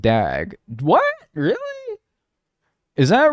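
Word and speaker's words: דג: The Hebrew word for fish is pronounced dag.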